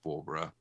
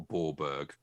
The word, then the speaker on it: Bawburgh: i'm feeling okay now the town is spelt b-a-w-b-u-r-g so i was very disappointed to learn that it was pronounced barbara and not a ballberg ballberg because it sort